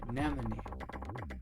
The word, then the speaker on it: anemone: Please note, it's pronounced anony. Anemone. Those colorful sea creatures with the tentacles.